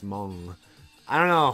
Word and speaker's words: Hmong: comes weightily up h hmong it's pronounced mom I don't know how